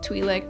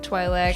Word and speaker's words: Twi'lek: Now, there are certain names that aren't necessarily pronounced incorrectly, they're just pronounced differently, and both pronunciations are acceptable according to like most sources, like Twi'lek, Twi'lek, sure.